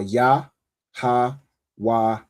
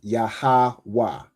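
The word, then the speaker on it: Yahawah: So the letters are ya, ha, wah, and ha. But you pronounce it as yahwa, right?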